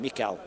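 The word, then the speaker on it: Michał: nice tactic there from Michael trinsky on Mikel as it's pronounced the Polish way o big you know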